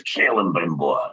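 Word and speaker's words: Celebrimbor: So I had people jump on me going, no, it's Callan Brimbor. Yeah, Reg. It's very realistic, I think. Sometimes people just don't know how to pronounce other people's names.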